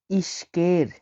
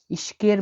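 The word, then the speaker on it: ишкер: ব্যবসায়ীর কিরগিস হচ্ছে ইশকের। ইশকের মানে ব্যবসায়ী। দেখুন এখানে লিখা আছে ইশকের আমি ভেঙে দিচ্ছি এটা আই এস এইচ এটা কে এটা ই এটা আর তাহলে কি হলো ইশকের ইশকের মানে ব্যবসায়ী ইশকের মানে হল ব্যবসায়ী দেখুন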